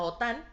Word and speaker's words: OTAN: la sigla lo permita como la otan este pues se pronuncia tal cual no se pronuncia la la ote - y no la otan ok y eso sería